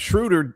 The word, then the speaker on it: Schroeder: And Schroeder rhymes with shooter, but he's not one.